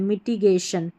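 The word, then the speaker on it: mitigation: यहां पर मिटी पढ़ना माइटी नहीं पढ़ना है मिटिगेशन मिटिगेशन stray S टी आर a straight टै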